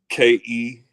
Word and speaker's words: Keck: how do you spell it again? KECK.